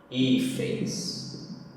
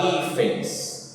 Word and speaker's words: hífens: Na palavra hífens, também o i aqui é sílaba forte, paroxítona, com o final ens.